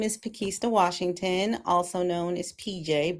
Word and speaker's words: Pakesta: my husband really prefers Pakesta, so we're going to keep Pakesta. And the way you remember it is a package at Easter is Pakesta.